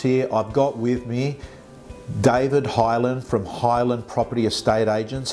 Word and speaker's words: Highland: I've got with me David Highland from Highland Property Estate Agents. Have I said it right?